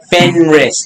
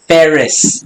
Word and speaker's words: Fenris: few times will's like it's fair fenris not ferris yeah he's not gonna